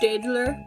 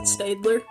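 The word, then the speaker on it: Staedtler: were colored with Stadler highlighters I know it's pronounced Stadler but I pronounce it Stadler and we got a GU penguin that I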